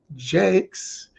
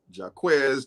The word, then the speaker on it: Jakes: That's how I have everybody understand how to say my name, is by saying Bishop T.D. Jakes. Just remember that. And everybody gets it after that point. Otherwise, it's Jacques, Jacques. I hear it all.